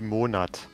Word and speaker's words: Monat: It's actually Monat. It's Monat. Monat. Or Monate, if it's plural.